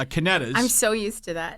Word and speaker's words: Canedas: ocean and Monmouth County I've been calling Canadians it's kinetis I'm so used to